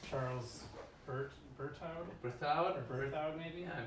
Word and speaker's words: Berthoud: So I don't know how to say this guy's name, but it's Charles Berthoud? Berthoud? Or Berthoud maybe? Yeah, Berthoud.